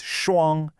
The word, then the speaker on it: 双: It's a high, flat tone.